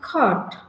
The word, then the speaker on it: cot: তাহলে আমি যদি এখানে আরও দুটো সাউন্ড লিখে দেখাই, ক্যাট, আরেকটা যদি লিখি COT, উচ্চারণ খট, খ্যাট, খট।